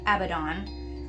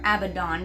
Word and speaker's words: Abaddon: Now some people say Abaddon, some people say Abaddon. I feel like it's more Abaddon because it's spelled with 2 D's, but whatever.